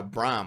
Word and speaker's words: Braham: seeing uh that it's actually a Bram I believe that's how you pronounce it b r a h a m Bram or Braham but I think it's braam anyway um so he